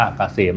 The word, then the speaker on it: เกษม: Sign นำ หน้า นะ K SCM อ่าน ว่า เกษม นะ ครับ สำหรับ ท่าน ที่